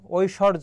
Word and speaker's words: ঐশ্বর্য: হবে একটু ঝটপট জানাও ঐ যদি থাকে তার উচ্চারণের ক্ষেত্রে ও আর রসই লিখতে হবে ঐ আর দেখো এখানে কি হবে আর ব ফলা থাকলে সেটা উঠে যাবে আর রেফের জন্য সেখানে কি হয় র হয় ঐশ্বর আর অন্তর জন্য কি হবে সেখানে বর্গীয় জ হবে ঐশ্বর্য হবে ওই ঐশ্বর্য